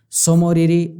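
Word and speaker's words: Tso Moriri: और दूसरी है सोकर सो मौर्य और सोकर इनको याद कैसे रखोगे यह भी सोच से शुरू हो रहा है तय साइलेंट है इसमें समय और इसे बोला जाता है तो सोम और हरी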